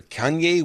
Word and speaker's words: Kanye: on our esteemed list here kane west or Kanye West I guess you pronounce it latest number one album removed from